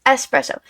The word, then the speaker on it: espresso: calling you out but so many people say espresso martinis and espresso It's s espresso espresso it's spelled e SS p r SS o so it's espresso I'm not calling you